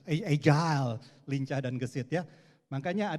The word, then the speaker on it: agile: Kalau yang berikutnya bacanya pakai bahasa Inggris ya, jangan bahasa Betawi. Kalau bahasa Betawi, gile, wah itu kayak begitu sih. Agile, lincah dan gesit ya.